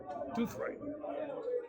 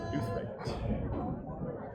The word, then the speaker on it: Douthwright: Douthwright. Yeah, I did learn that's the right way to say it. Douthwright.